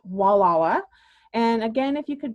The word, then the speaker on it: Gualala: name gualala so i pronounce it but it's pronounced walawa and again if you could go to that